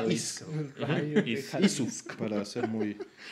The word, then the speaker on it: Ys: Muchos me decían Wise porque pues en inglés eso sería lo correcto. Como Ryu. ¿No? Ryu. Pero exacto. Pero en japonés se escribe efectivamente Isu.